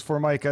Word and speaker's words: Formica: I totally get it it's like the countertop yeah do you correct